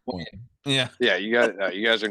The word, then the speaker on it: Nguyen: I definitely don't think Steve Nugent. People say win. That looks like Nugent to me. It's It's 100. pronounced win.